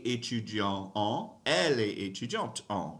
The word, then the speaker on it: est: Careful with that second word right there, E. It's just A by itself, E. So you don't pronounce the S, you don't pronounce the T.